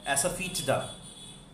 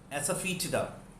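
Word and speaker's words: asafoetida: हींग, इसकी प्रोनाउंसिएशन थोड़ी सी आपको ध्यान रखनी पड़ेगी। एसाफीटिडा, एसाफीटिडा।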